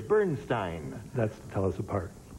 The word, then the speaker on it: Bernstein: Now, you say Bernstein. That's me. You pronounce it differently from the conductor who prefers Bernstein.